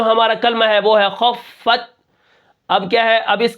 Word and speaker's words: خفت: کس طرح پڑھیں گے، خوف زبر خف، تا زبر فت، خفت، وقفن خفت، آخر میں وقف بالسکون